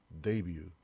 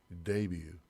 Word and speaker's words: debut: debut, debut. 이것도 외래어예요. 그래서 U 발음이 조금 길게 가요. T 발음도 안 나죠.